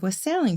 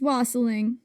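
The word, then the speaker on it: wassailing: And this is where we get the tradition of was sailing from. It's wasling rhymes with bossling.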